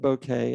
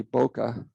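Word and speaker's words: Bokeh: peer relationship so we use a package called bouquet which is a uh excuse me i call it bouquet it's actually boca it's a correct pronunciation of it don't worry it's a it's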